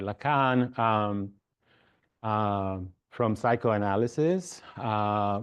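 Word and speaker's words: Lacan: from different fields uh laan I I like to pronounce it Lan right laan um um from psychoanalysis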